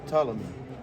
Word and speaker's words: Ptolemy: That's why you write down Ptolemy, so we pronounce it Ptolemy. So the P silent, but already in hieroglyphics, Ptolemy.